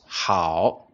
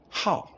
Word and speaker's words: 好: pronounce the word as how instead we pronounce it as how how it becomes the fourth tone so pay attention please